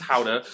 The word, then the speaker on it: Gouda: You might pronounce it Gouda, but it's Gouda.